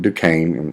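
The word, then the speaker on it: Duquesne: are at uh Fort Duane yeah that's how you pronounce this guy says Duane I know it doesn't look that way um heed to go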